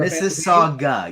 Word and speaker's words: Mississauga: canadian yeah he's from mississauga is that why is it your this is saga you don't pronounce the u dude you know i